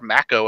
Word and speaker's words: Mako: That will be 2-star Mako, I believe is how it's pronounced, I'm being informed, versus Cinder on Wednesday night.